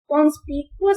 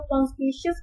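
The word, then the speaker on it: conspicuous: चलिए, हमारे पास अगला वर्ड है कॉन्स्पिकुअस कह सकते हैं इसे, या कुछ लोग कॉन्स्पिशियस भी कहते हैं। मैं तो कॉन्स्पिकुअस कहूंगी क्योंकि मेरे स्पेलिंग गलत है, ठीक है जी।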